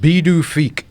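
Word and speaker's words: Pituffik: It's pronounced bedufi. Beautify.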